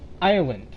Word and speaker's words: island: Like, island. Island is spelled I-S-L-A-N-D. And yet, you really don't need the S. Because the S is silent.